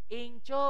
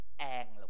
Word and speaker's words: Angel: ล ย ต่ อ โ อ เ ค Angel ลู ก อ อ ก เ สี ย